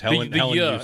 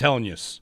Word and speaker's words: Helenius: Helenius. In the second part. 3 there has been syllables. throwing He me. said it. It's Helenius. Helenius.